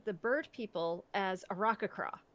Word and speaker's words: Aarakocra: So I always said the bird people as Arakakra. Right. Because I had a parrot for a very long time, but but it's Aarakocra, very soft vowels.